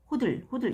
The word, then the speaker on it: HODL: 이게 북미권 넷상에서 유행하는 밈인데 이게 왜 이게 HODL 호들 이렇게 발음해야 되나?